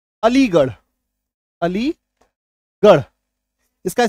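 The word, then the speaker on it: Aligarh: आर एच है ना आर है यहां पे अलीगर गर होना चाहिए अलीगर अगर हम लोग शब्दों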